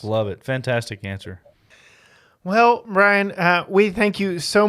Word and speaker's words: Bryon: d o r r it's spelled really weird it's not Byron it is Brian um and uh yeah